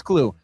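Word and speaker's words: Klueh: It's spelled K-L-U-E-H. I don't know if it's Clue or Clue. To me, that's Clue.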